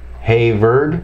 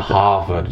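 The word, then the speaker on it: Haywards: Hayward? Yeah, Hayward 5000. Is that H-A-V-A-R-D? Yeah, okay. But it's pronounced in India, Hayward. Okay, but not Harvard. Not Harvard. It's Hayward. Hayward.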